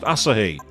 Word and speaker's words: Asahi: no I mean Asahi it's Japanese it's pronounced Asahi the jump scare Evo